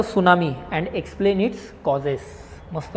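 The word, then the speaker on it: tsunami: सुनामी काय definition सुनामी सुनामी म्हणजे जपानी शब्द आहे ना हा सुनामी असं लिहितात त्याला त silent सुनामी so Japanese word है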